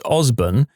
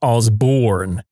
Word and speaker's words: Osburn: where my classmate said his last name was Osburn and some guy kept arguing I'm pretty sure it's ozborn he got angry and